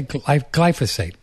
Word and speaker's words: glyphosate: This how do you say glyphosate?